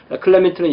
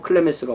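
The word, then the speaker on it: Clemens: 클레멘트는 영어식이고 클레멘스가 원어에 가깝습니다.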